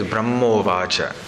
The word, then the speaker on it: ब्रह्मोवाच: वेदाहि प्रतिरुद्धेन प्रज्ञानेन चिकीर्षितम् Brahma Uvacha. But when it's pronounced together, it is Brahmovacha.